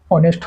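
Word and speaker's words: honest: तो ये वो our arrays air S honourable honourable हो गया ओनरी हो गया ऑनेस्ट हो गया इस समय क्या है एच साइलेंट है उसके बाद जो वोवेल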